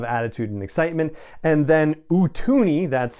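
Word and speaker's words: Utooni: a lot of attitude and excitement and then utuni that's how it's pronounced spelled u-t-o-o-n-i which is basically two jaws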